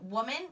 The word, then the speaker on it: woman: its normal sound oh and woman really says whoa woman that doesn't make its normal sound so I have to which is why it's our sailors I have to remember that and I have to learn it by heart whoa man woman so